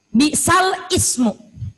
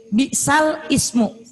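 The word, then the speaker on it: بِئْسَ الِاسْمُ: Bukan dibaca bi'sal ismu. Tapi bi'salismul fusuqo.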